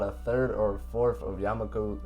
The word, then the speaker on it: Yamaku: third or fourth of yamaku Y oh I said it right the first time yamak yam yamaku librar is either in